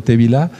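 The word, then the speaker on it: טבילה: a eso qué significa así se pronuncia en hebreo te vi la la inmersión en agua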